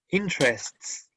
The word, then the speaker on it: interests: Pero, no, a ver, profe, ¿lo puede pronunciar usted? Que ya me confundí ya. Sí. Interests.